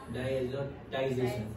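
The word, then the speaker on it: diazotization: वो टाई का श बोला जाता है, शन, शन होता है ना, शन, वो शन का स्पेलिंग ऐसे होता है, डायएजोटाइजेशन। हाँ, डायएजोटाइजेशन ऐसा बोल सकते हैं, ओके, लेकिन ये इसका टी नहीं करना है, ये तो शन ही है, शन।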